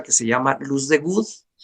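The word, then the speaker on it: Wood: ¿Has oído hablar de una cosa que se llama luz de good? Y good se escribe w o o d, ¿no?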